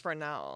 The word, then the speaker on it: Fresnel: The thing that's spelled. But it's pronounced Fresnel. It's pronounced. It's like messed up. It's so bad.